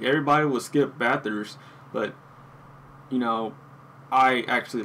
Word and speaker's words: Bathurst: until I actually try, and I'm talking about Bathurst. That's how you pronounce it.